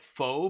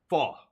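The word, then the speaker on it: phở: Oh, of I call it foe, but it's not. It's uh fa ba. Is that how you pronounce it? I'm not even sure. All right, let's check it out. Hit me. F fa. That's it. The hipster. Yeah, I I'm pretty sure that's how it's pronounced.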